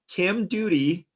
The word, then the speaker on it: Doughty: So your Twitter handle is @HowdyDoody, but your name is spelled DOUGHT, which sounds, I guess, in the US like Doughty. So I'm going to say Kim Doody.